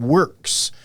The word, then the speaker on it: WORX: It is called Works. So it's WORX. That's how they spell it.